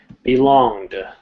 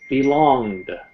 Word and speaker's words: belonged: ed it's such as belonged we never say belong ed we never say amuse it it's amused i'll teach you how